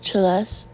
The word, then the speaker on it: Celeste: Her name was Celeste, pronounced with a sharp ch, as in cello.